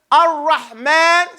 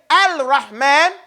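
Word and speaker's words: الرحمن: Don't you know that when we say Ar-Rahman, say it, Ar-Rahman. There's a lam in there? No. Yeah, there's a lam right there, but we don't pronounce it, do we? We don't say Al-Rahman.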